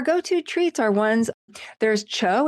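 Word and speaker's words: TCHO: There's Cho. It's spelled T H T C H O.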